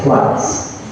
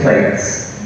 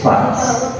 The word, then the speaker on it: plaits: Listen to the pronunciation. You say plaits. We don't say plates. It's plaits.